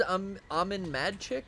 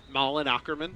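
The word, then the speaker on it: Malin Åkerman: I thought it was Amin Madchick or something. Malin Wait, Ackerman. This girl, right? Yeah. Which girl? Malin Ackerman. How do you pronounce Yeah. that? Malin Ackerman.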